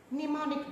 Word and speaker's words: mnemonic: Mnemonic devices. Mnemonic devices, the M is silent. It's pronounced mnemonic.